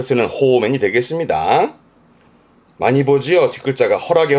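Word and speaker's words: 放免: 방면해주는 발음은 호맨. 그렇죠. 방면해준다라는 거니까 붙잡아 가뒀던 사람을 놔주는 무죄 방면이라든가 그런 데 쓰는 호맨이 되겠습니다.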